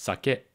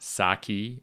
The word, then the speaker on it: sake: And as you've been hearing me, it's pronounced sake, not sake, or even worse, sake.